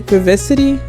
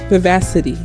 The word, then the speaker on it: vivacity: I said vivicity. So I was close.